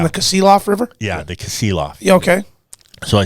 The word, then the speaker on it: Kasilof: to go to Soldotna and fish on the Kilof, right? Kasilof? Yeah. Yeah. How do you pronounce it again? You're talking about going down to Soldotna and fishing Yeah. the Kasilof River? Yeah, the Kasilof.